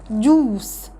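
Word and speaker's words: juice: اليو لو جه بعدها اي تتنطق كانها 2 او بصوتها اللونج الاو، زي فروت، فروت، جوس، جوس. يبقى هنا اليو لو جه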